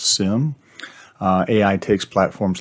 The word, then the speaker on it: SIEM: Then SIEM systems, pronounce "sim", AI takes platforms like Splunk, IBM Qradar, and Exabeam to the next level.